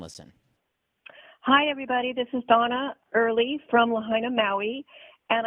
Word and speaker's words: Dona: She spells her name D-O-N-A, but it's pronounced Donna.